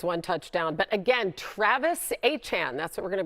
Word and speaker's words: Etienne: who corrected everybody and said that the proper pronunciation of his last name is Etienne.